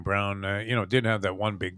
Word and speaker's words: Braun: Like, and the other kid, the guy Braun that pronounces his name Brown, did have that one big game, which was he sucks.